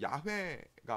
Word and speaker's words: 야훼: 본래 발음은 이제 야훼가 맞는 발음입니다.